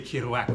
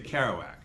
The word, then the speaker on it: Kerouac: You don't say Kerouac when you speak in English. You say Kerouac.